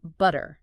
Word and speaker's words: butter: influence from Irish gelic the T at the end softens almost like a d so it sounds more like butter exactly OD yeah it's